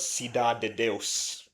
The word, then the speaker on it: Cidade de Deus: But since it's in Portuguese, like It's pronounced. The title is Cidade de Deus.